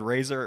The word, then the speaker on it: Fraser: you know the word Razer it rhymes with razor Brendan Fraser has anyone